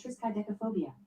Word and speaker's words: triskaidekaphobia: Fear of the number 13 is called triskaidekaphobia. Triskaidekaphobia. No, Yeah. she's just saying it wrong. You know how she pronounces stuff weird sometimes.